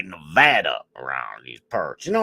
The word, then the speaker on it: Nevada: Same thing with Nevada. We say Nevada. Honestly, I think it sounds better as Nevada. But when you're in Nevada, you better say Nevada. We say Nevada around these parts.